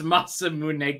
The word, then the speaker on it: Masamune: speak Japanese no but I know that they announce every single uh every single vowel masam mun yes if